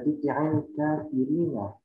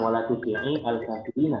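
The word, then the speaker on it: تُطِعِ الْكَافِرِينَ: Misalkan di sini ada tuti'il kafirina. Nah, maka ini harusnya masuk orang kan. Bacanya bukan wala tuti'i al-kafirina, tapi langsung tuti'i. Ketika kita mau menghafalkan tuti'i, langsung masuk ke alif lam.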